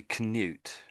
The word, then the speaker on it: Canute: So, it looks like Kut. His name is is basically this Kut, but I think I think we say canute.